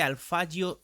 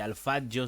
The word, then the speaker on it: Alphadjo: Digo Alfio porque es como se dice, el mismo lo comentó mientras estaba en Catanaro. Se escribe una especie de alfajo, sí sé, pero es alfayo como hay que decirlo.